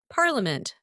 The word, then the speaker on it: parliament: This word is pronounced as parliament.